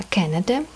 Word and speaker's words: Canada: Не Канада, а Canada произношение.